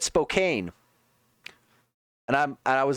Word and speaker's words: Spokane: Like Spokane like it's spelled Spokane. Like that is how it is spelled. I get why people do it but it's one of those it's just off.